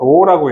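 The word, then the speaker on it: ρ: 비저항은 물질 고유의 저항으로 물질 종류가 결정하는 저항으로 로라고 읽어요.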